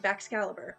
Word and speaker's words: Baxcalibur: Okay, It is indeed Baxcalibur.